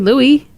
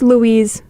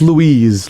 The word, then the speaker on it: Lewis: his name is CK Louie huh that would be bad my friend um his name is Lewis but it's pronounced Louise so not Louie it's Louise like like an old woman yeah you know what